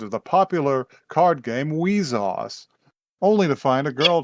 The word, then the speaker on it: WIXOSS: It's spelled WIXOSS. Wheezoss. And it is pronounced not that.